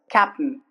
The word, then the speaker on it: captain: Uh the letter I rules uh a i n at ending remains the sound uh do you remember squash sound uh for example captain captain uh captain captain it's not captain attain in comparison to that attain that's not the way we pronounce captain it's just captain not attain it's captain okay mountain